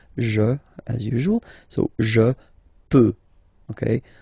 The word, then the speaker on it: peux: So the first form that we'll have is je, as usual, so je peux, okay? Final x not pronounced here, okay, so you get x but you don't pronounce it, so basically you get